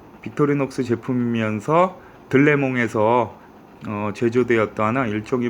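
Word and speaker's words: Delémont: 보이시겠지만 빅토리녹스 스위스 메이드 영어로는 델몬트 라고 적혀 있는데 현지 발음으로는 * 레몽 일하고 있는 다고 하더라구요 네 그래서 어 2 빅토리녹스 제품이 면서 들레 몸에서 제조되었다 하는 일종의 뭐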